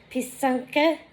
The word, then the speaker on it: Pysanka: So Pysanka, or Pysank, it's actually Pysanka and Pysanky, like that, I think. It's how you pronounce it.